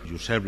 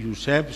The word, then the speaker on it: Josep: Per posar un exemple, les solucions recomanades en la pronunciació de Joan i Josep són pronunciar-les com a U en lloc de O.